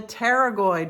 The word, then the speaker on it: pterygoid: It's called the terragoid muscle. Sounds like it starts with a T, right? Well, incorrect. It starts with a P.